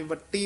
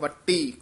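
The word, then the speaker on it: ਵਟੀ: ये वट्टी उच्चारण करना है। भौ वट्टी कसके बोलना है।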